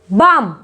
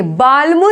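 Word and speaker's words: balm: यहाँ पर भी बाम, बाम बोलेंगे, बाल्म नहीं बोलेंगे।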